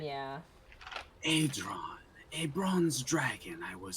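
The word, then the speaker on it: Aidron: Adron, by the way, I just want to make sure I pronounce it Adron, right. yeah. Adron, a bronze dragon I was sent on another's behalf.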